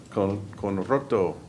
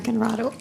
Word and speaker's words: Conrado: Next, we have Conroto. Is that how you say it? I think that's the right way to say it, but my name is Conrado, excuse me, and I live on Hogue Road.